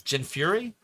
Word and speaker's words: Jin Fury: say your name wrong is it Jin Fury or Jin fur or Jin fur which way is it it's Jin Fury cuz I don't think